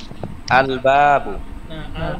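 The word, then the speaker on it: البابُ: আল বাবু, আল বলি নাই, তিন আলিফ টান দিয়েছি এখানে।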